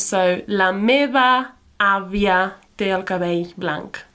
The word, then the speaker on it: meva: Just remember, we pronounce these V's a bit more like B sounds. So, la meva àvia té el cabell blanc.